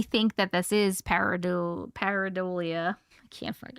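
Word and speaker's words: pareidolia: But she's also saying they're also saying they think that this is parad paridolia. I can't even know how to pronounce that word.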